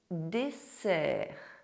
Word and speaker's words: dessert: If you have SS between two vowels, it is pronounced [s], like the little snake (sss).